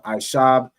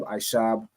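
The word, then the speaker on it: עשב: um young man it would be ashab right so aishab is how you'd say herb used to pluralize that it would beabium you get the point right so herb isab herbs would beabium right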